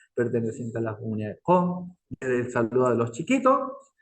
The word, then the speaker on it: Qom: Nuevamente, no se dice cuom, se dice com. Y con Q. Ni tampoco es con C, es con Q.